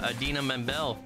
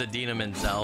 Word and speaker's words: Idina Menzel: lady who sings Frozen it's Idina Menzel but uh John Travolta can't pronounce her name do you hear all that you didn't say that he he tried to give her an award and he had to say her name like five times and he said it wrong like every time all right here too